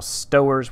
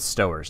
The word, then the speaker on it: Stowers: Kyle Stowers. We're going to go with Stowers, not Stowers.